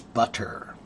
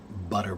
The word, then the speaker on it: butter: So, when you say it slowly, it's butter. Butter. But when you say it quickly, butter, butter, butter, butter, butter, butter, butter.